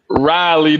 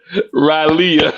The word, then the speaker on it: Raleigh: Not knowing how to pronounce Raleigh, North Carolina as Raleigh.